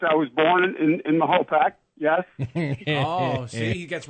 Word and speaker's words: Mahopac: If you hyphenate it, Mahopac, that's the way it's pronounced, is Mahopac.